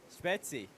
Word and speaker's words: Spezi: Spezi. That's how you say it like the locals.